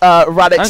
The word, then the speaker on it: Radix: Or Radish. Half a world. Radish. Yeah. Anyway, I should point out, for those of you who are none the wiser, I was basically asked to mispronounce Radix as Radish and FM as Fum.